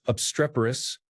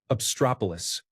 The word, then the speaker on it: obstreperous: My mom always pronounces obstreperous as obstropolis.